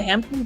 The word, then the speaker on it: Hampton: The Hampton one, my home bin, P is silent.